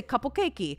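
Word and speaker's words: カップケーキ: like you're crazy but if you say cuple kakei I go oh cuple kakei hi uh I know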